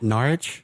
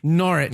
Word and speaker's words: Norwich: thank you was that last night wasn't it norwich nor it nor it it was we could say North